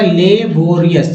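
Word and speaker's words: laborious: तो एल के साथ ए लगा तो ले हो गया ले, बी हो गया बो, री और इसको अस बोलते हैं, तो उच्चारण हो गया लेबोरियस।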